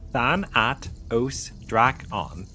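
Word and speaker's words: Thanatosdraco: Thanatos Draken pronounced Thanat Odra on the giant terasaur lived during the late Cretaceous period around 86 million years ago in what is now Argentina.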